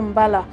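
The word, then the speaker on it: mbalax: Le mbala, prononcé mbala, sa technique vient en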